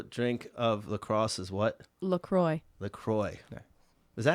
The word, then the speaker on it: LaCroix: LaCroix.